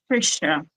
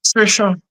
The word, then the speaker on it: Tricia: Tricia. Trisha.